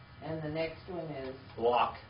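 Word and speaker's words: לָךְ: Lock. L-A-C-H. L-A-C-H. Lock. Or in the Hebrew, biblical Hebrew grammar is lock. Lok. All right, lock. Or lok.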